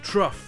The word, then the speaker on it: trough: Il existe aussi un autre mot comme ça, c'est trough, un abreuvoir.